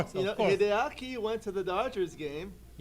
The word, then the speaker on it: Hideaki: How do you pronounce his name? Oh, Hideaki. Hideaki. Hideaki.